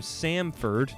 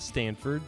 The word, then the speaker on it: Samford: He comes from Samford, not Stanford, Samford, who made the tournament last year, so he definitely has been on a successful team.